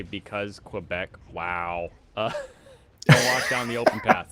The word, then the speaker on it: Quebec: sounds funny to say you think it would be quick Quebec it's pronounced Quebec it goes to the Tabernacle